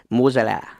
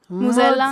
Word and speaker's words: mozzarella: some mozzarella. Mozzarella. Mozzarella. Mozzarella. I got to say. You got to pronounce all the letters.